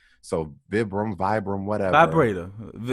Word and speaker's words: Vibram: don't want to mispronounce the shoot name but it's spelled v-i-b-r-a-m so vibram vibram whatever vibrator i can't say that